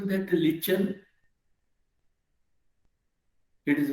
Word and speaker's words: lichen: lichen. Who pronounced that lichen?